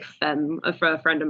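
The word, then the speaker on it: Phemme: this is them but it's spelled p h e m m e like femme a for a friend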